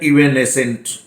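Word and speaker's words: evanescent: इसका प्रोनाउंसिएशन है इवेनेसेंट और ये भी एडजेक्टिव है।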